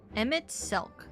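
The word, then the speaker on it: Emet-Selch: Emit silk.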